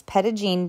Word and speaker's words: Petit Jean: One of the town's most popular attractions is Petigene State Park. Yes, that's how the locals pronounce it.